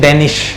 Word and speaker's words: Denish: DENISH, उच्चारण क्या है इसका सही? डेनिश। डेनिश ही है।